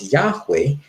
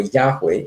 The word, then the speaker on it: Yahweh: German, the spelling for Yahweh, it starts with a J. So it's Yahweh. You'd pronounce it in English as Yahweh, but I think in German they probably say Yahweh.